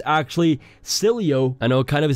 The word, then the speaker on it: Sileo: bit late but a new city alternative called silo it's actually pronounced salut I'm just kidding school start confirmed that it's actually silly oh I know kind of a silly name but